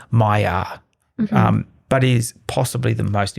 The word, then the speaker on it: Maillard: It's not pronounced Maillard or Maillard. It's a French term, and my French is terrible, but it sounds more like Maillard.